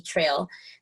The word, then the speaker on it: Traille: just my name and my last name is spelled uh like braille with the t it's t-r-a-i-i-l-l-e and it's trail with the ea at the end trail so that's my name